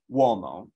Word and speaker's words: uomo: And then also a U can sometimes function as like a W. So uomo, the word for man.